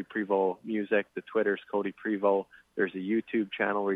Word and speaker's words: Prevost: that's that's okay yeah i've been pronouncing the ost and that's just my silly american in me because but you can you know it's not wrong i wouldn't say it's wrong it's just french so pre-vote st kind of gets cut off yeah all